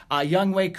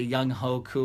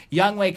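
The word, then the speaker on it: Younghoe Koo: cool I don't I I made sure I'd know it because I wanted to say it right I didn't want to say young Hoku or anything like that young wake who the kicker drilled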